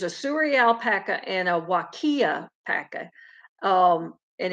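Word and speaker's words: Huacaya: suri alpaca and a wakiya um and it's spelt really unusual it looks like haikia but it's it's considered wakiya uh christy says i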